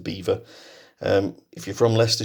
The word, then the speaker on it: Belvoir: I believe it's pronounced Beaver actually although it looks like a French word there of Belvoir but I think the locals do pronounce it Beaver um if you're from